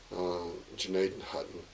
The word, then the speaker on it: Gnadenhütten: We've been down to Janadenhutton. It's hard for me to say that, but that's how they say it here in Ohio. It's probably Gnadenhütten, or something closer to that, the site of an